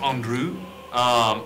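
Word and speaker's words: Andru: It's pronounced Andrew. A N D R U. A N D R U. That sounds very French.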